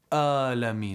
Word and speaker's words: العالمين: No, it's not a, it's a ayn, not a hamza. No, it's a ayn fatha alif. A. We said hamza ha, ayn ha. So ayn and ha, they're both pronounced from the middle section of the throat.